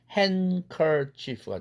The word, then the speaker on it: handkerchief: C2에 해당되는 hand라는 음절과 커라는 음절이 연속되는데 드가 C2에 해당되죠. 음절 경계가 있고 파열음이니까 날아가죠. 그래서 handkerchief가 되겠죠. 그런데 크가 연구개음이니까 앞에 있는 치경 은 사운드에게 나 닮아라 연구개음으로 바꿔라 해서 같은 4도짜리에 은과 같은 4도짜리에 사운드 응이라는 연구개음으로 바뀌죠. 그래서 handkerchief 이렇게 된 것입니다.